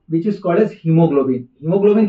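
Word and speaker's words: haemoglobin: लोग गलती करते हैं यहां पे हम बोलते हैं ही लेकिन लिखते हैं एच ए ई जैसे हो हे बट we read it एज ही तो ए इज साइलेंट ओके तो एच ए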